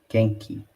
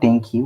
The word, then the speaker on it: Genki: Genki. Genki is healthy and energetic. Genki. I'm not Denki.